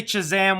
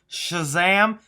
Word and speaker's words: Shazam: a while you know I say choose am weird I say it like if I'm saying cheese instead of Shh I don't know what it is I can't get myself to say it the right way I can do Shazam it feels so weird